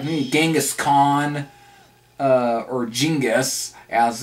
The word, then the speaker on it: Genghis: You know, just like stuff like me, Genghis Khan, or Genghis, as it's supposed to be actually pronounced, or Another Life, maybe as well, you